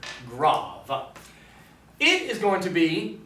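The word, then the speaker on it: grave: known as the graph looks like grade but it is pronounced grav it is going to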